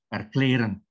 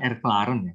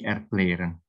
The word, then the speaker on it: erklären: menjelaskan gitu kan ya, erklären dibacanya, bukan erklaren ya, karena dalam bahasa Jerman kalau A dikasih umlaut titik 2 dibacanya E, jadi erklären.